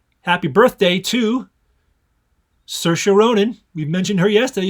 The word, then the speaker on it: Saoirse: Happy birthday, Saoirse. Rhymes with inertia, Ronan.